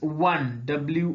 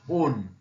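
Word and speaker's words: won: shown when one one it's pronunciation is one wo and not own Bend Bend Bend creep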